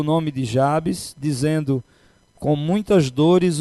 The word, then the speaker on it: Jabes: Alguém pronuncia Jabez, Jabes, mas vamos chamá-los de Jabes.